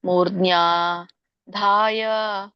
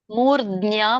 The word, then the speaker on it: ಮೂರ್ಧ್ನ್ಯಾ: ಇಲ್ಲಾಂದ್ರೆ ಮೂರ್ಧ್ನ್ಯಾಧಾಯ ಆತ್ಮನಃ ಪ್ರಾಣಂ. ಅದ್ ಗಮನಿಸಿ, ಅದು ನೋಡಿ ಉಚ್ಚಾರಣೆ ಅದು ಮಾಡಿ, ಅದೊಂದೇ ಹೇಳಿ. ಆಯಾತ್ಮನಃ ಪ್ರಾಣಂ. ಕೇಳಿಸ್ಲಿಲ್ಲ ನನಗೆ ಫಸ್ಟ್ ಹೇಳಿರೋದು. ಫಸ್ಟ್ ಹೇಳಿದ್ದು ಕೇಳಿಸ್ಲಿಲ್ಲ. ಮೂರ್ಧಾಯಾತ್ಮನಃ ಪ್ರಾಣಂ. ಮೂರ್ಧ್ನ್ಯಾ ಮಾತಾಜಿ, ದಕ್ಕೆ ನ ಒತ್ತಿದೆ ಅಲ್ಲಿ ನೋಡಿ.